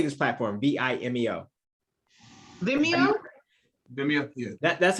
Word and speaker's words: Vimeo: Vimeo? Vimeo, yeah. That's how I thought you said it too. So when Little Boosie came on talking about and Vimo, get my stuff off your site, and I